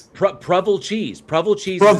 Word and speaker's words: Provel: Prevel cheese. Prevel cheese. Prevel. Prevel cheese. It's prel. It is 100% preval.